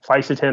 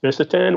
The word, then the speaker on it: fisetin: I think fisetin, or sometimes pronounced fisetin, would be second, but not quite really even a close second.